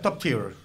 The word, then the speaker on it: top tier: que tiene certificación internacional top tier, que se pronuncia top tier, eh, que es garantía de calidad a nivel mundial.